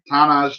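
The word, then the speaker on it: Tahnaj: Yeah, how do you say his first? Thomas. What is it? Tanaj Thomas. Tanaj Thomas.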